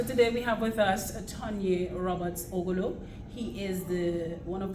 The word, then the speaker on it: Tonye: because if you say Tonye, that is my name. But if you say Tonye, that is a different name. Tonye. I see it as Tonye, and that is how it's supposed to be pronounced.